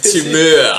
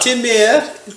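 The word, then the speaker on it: Temur: And here we are, round 6, game 1, with Byron playing Abzan mid-range versus Charles playing Teemer mid-range. Or as you'd like to say, Trent. Chowder. Timur. Timur.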